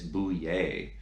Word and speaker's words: Bouillet: It's not Bouillet, and it's definitely not Boulette. It's Bouillet, and it's French, so don't pronounce the L's.